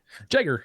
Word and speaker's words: Jagger: It's Jagger Burton. I'm sure I pronounced his first name wrong again. Jagger, you're you're fine.